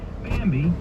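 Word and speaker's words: Bambee: an average of seventy thousand dollars a year bambi you spell it b-a-m-b-e-e was created specifically for small business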